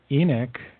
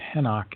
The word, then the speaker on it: Enoch: out in this lineage here is that the Enoch was actually pronounced henock and it was actually three people henock the